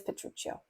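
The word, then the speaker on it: Petruchio: Italian is just like oh well it is petruccio okay rise groom your rise we will compound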